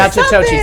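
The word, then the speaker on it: Natchitoches: Nachitoches, that's how you pronounce it.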